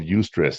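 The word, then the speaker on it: eustress: But there's this term called ustress. It's spelled e u s t r e ss.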